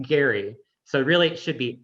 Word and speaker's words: Gerry: is that a hard g gary it is pronounced gary so really it should be gary mandering but